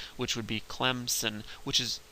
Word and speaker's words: Clemson: realizing it um is if you pronounce the the school Clemson if you if you say it like a good Southerner and you say Clemson um you put a p in there and there's no p in the word if you look at it um sometimes people from up North will pronounce it Clemson with a z and there's also no Z in there phonetics would would